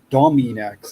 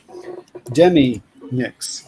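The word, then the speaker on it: Deminix: It's not Dominix. It's Demi-Nix.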